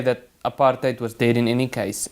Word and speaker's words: apartheid: The policy of separate development, which the media must mysteriously branded apartheid with the accent on the H A T hate.